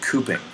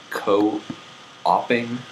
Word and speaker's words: cooping: Wait, isn't that pronounced co-oping? No, there would be a dash. It's called cooping.